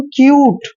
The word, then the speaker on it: cute: जब भी U के बाद कोई कॉन्सोनेंट आए और तुरंत E आए तो U का उच्चारण U ही करना है, यानी कि इसको पढ़ेंगे हम क्यूट।